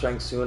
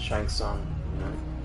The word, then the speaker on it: Shang Tsung: It's funny cuz sometimes it's pronounced Shangsung and and in the movie they would pronounce it Shang Tsung.